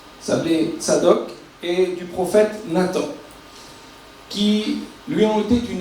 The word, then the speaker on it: Nathan: Nathan, on le prononce en hébreu Nathan, il a donné, Dieu a donné.